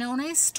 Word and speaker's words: honest: i an umbrella ah an honest officer so ah hate silent here an english man so